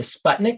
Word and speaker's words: Sputnik: i think that was because was it the sputnik launch is that how you pronounce it yeah yeah and they were afraid